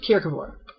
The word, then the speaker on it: Kierkegaard: spelled kierkegaard g-a-r-d or g-a-a-r-d um but it's pronounced kierkeville so character 4 is he's not my favorite